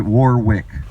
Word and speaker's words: Warwick: You guys would pronounce it Warwick, okay? It's spelled W-A-R-W-I-C-K.